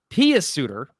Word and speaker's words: Pius Suter: I heard Jochen Hecht once, and I'm like, come on, you're literally phonetically saying his name. Come on. Pius Suter, by the way, is how you say it.